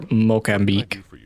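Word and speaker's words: Moçambique: Alright, let's make sure, let's do a Mozambique drill right here. Go ahead and put 3. 3 in him. Make sure he doesn't get up again. Or Mocambique, as it's actually pronounced.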